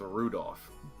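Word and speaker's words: Rudolf: on it's just anyway this guy's name is pronounced Rudolph he must hate grandfather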